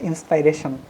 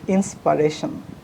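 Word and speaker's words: inspiration: Next, so খুবই এটাকে আমরা বলি যে সে আমার ইন্সপাইরেশন, কিন্তু এটা ইন্সপাইরেশন না, ইট ইন্সপারেশন। What is ইট? ইন্সপারেশন। Okay, so এখন থেকে আমরা বলবো কি যে উনি আমার ইন্সপারেশন, নট ইন্সপাইরেশন, ইন্সপারেশন।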